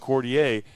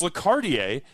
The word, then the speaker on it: Quartier: I've been calling it Lordier. It's Lardier and that means something about the neighborhood.